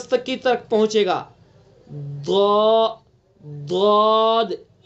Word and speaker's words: ضاد: کی طرف پہنچے گا۔ ضاد ضاد، صحیح تلفظ یہی ہے اس کا۔ زواد یہ تلفظ نہیں ہے اس کا، زواد، دواد بھی نہیں، زواد بھی نہیں، دواد